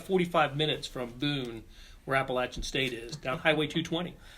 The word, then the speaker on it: Appalachian: to school but but I've always known to pronounce that Appalachian State ever since Blair had a little run-in with Danny knee former Nebraska basketball coach Danny knee called in appellations yes and we're gently corrected him yeah but I digress